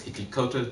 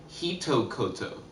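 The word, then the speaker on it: 一言: Because if I could say like the it's just, and then hikikoto or whatever, I think I'm saying it wrong. Hitokoto.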